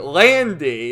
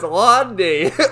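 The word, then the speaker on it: Lan Di: Like the one guy's calling Londi Landy. It's like, no, it's Londi.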